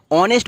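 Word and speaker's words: honest: যেরকম এক্সাম্পল দেখে নিই an hour, an অনেস্ট ম্যান। তো দেখুন এখানে এইচটা সাইলেন্ট আছে, তার জন্য আওয়ার অনেস্ট, তো এইচটা উচ্চারণ হচ্ছে না, তো তার জন্য ভাওয়েলের মতো সাউন্ড করছে।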